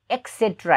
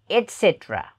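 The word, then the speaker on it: et cetera: यसलाई हामी एक्सेट्रा भन्छौँ तर त्यो रङ हो, एक्सेट्रा होइन एटसेट्रा. यो ट उच्चारण हुनु पऱ्यो यहाँ एटसेट्रा एटसेट्रा.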